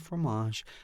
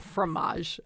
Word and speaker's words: fromage: a little bit of fromage a little bit of cranberry sauce on top of the fruit what's the difference between a formage set and a cheese set the fancy way i say it fromage so anglophile oh fromage